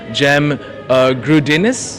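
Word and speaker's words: Cem Gürdeniz: ये हमारे साथ थे एक सीनियर थिंक टैंक को लीड भी कर रहे हैं admiral जेम ग्रूडिनिस. That's how you pronounce it.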